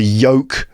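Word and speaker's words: yolk: of your hand p a l m the Yoke of an egg that's the yellow part of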